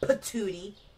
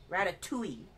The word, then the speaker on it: ratatouille: Rata. R-A-T-A. Rata. Patootie. Not patootie. Ratatouille. Tui.